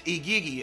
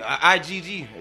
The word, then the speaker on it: Igigi: But these Igigi, IGG, depending on how you want to pronounce it, and that's Sumerian Akkadian dialect to pronounce it.